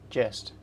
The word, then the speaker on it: gist: I would say J with a, I'd say it with a soft G. Let's see what happens. Chest. Jest.